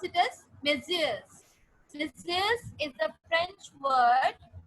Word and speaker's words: messieurs: We pronounce it as messieurs.